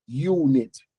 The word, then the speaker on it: unit: O U tem U, né? Unit. Isso. U é pronúncia tipo Y. Unit.